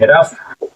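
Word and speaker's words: rough: वाज was means था जी एच यहां पर फ पढ़ा जाएगा ठीक है जी हमारा फ पढ़ा जाएगा र उफ र उ ली रफ र रफ ली बड़ी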